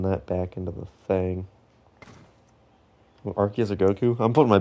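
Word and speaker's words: Arceus: Maybe I'm a bit of an Archus Glazer, but I love Archus. If you say it arus, you got something wrong with you. I don't care if that's the official pronunciation. I don't think it is, but if it is,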